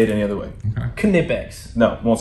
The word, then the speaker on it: Knipex: It's Nipex, and I'll never say it any other way. Okay. Knipex.